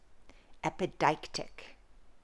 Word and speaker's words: epideictic: final i'll say it a couple more times epideictic epideictic epideictic is a literary or rhetorical term